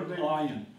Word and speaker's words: Ayin: Letter Ayin. It's a silent letter.